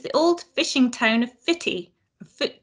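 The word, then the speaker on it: Footdee: for non-aberdonians like me spelled fruit d but of course pronounced fitty it's named not after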